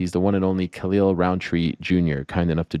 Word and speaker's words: Khalil: from what I've heard, people who are fluent and speak Arabic call me Khalil. So I 1000%. don't speak Arabic, but from like hearing, people that's their native language say it, that's how they pronounce it. But here in America, people say Khalil or Khalil, or some of my family calls me Khalil. It's just, I guess it depends on your accent.